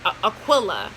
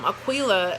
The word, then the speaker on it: Aquila: have to come back Aquila aqu i 8 AQ AQ u IL a Aquila or Aquila however you want to pronounce it like a keel and a B but